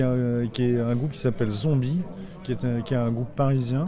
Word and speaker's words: Zonbi: Là, ce qui m'a décidé, c'est la première partie, qui est un groupe qui s'appelle Zombie, qui est un groupe parisien. Comme ça se prononce ?